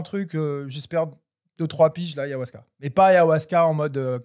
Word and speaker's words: ayahuasca: Ayahuasca, c'est comme ça que se prononce. Ayahuasca, ouais.